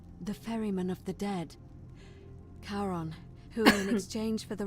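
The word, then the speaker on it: Charon: it's just as you described it only your pronunciation is a little off the name you heard wasn't Karen it was C h as in Caron the ferryman of the Dead karon who in exchange for the right coin helps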